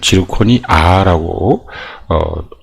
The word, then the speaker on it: 지르코니아: GrO에 이렇게 두 개가 산소가 이렇게 붙게 되는 형태인데, 그래서 이거 같은 경우는 지르코니아라고 발음을 해야 됩니다.